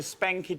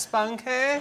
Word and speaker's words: spunky: I mean, had he given her like a spanky tissue, there would have been less wanky than that painting. What tissue? Oh, spunky? Oh, spunky tissue. Sorry, Sean, it's pronounced spunky.